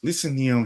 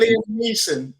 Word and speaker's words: Liam Neeson: I forgot the name of it, but Lisa Neum, he's on a plane. And Lisa Neum or Liam Neeson? Is it Liam Neeson?